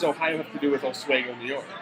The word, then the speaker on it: Oswego: He graduated from the State University of New York at Oswego. I think that's how it's pronounced.